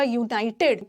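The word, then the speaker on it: United: एन लगा देते हैं, बट यहाँ यू का प्रोनाउंसिएशन य नहीं है, यहाँ यू का प्रोनाउंसिएशन य है, य, वाई यू, य, क ख ग घ, वोवल साउंड नहीं है, कॉन्सोनेंट है, कॉन्सोनेंट है, तो गलती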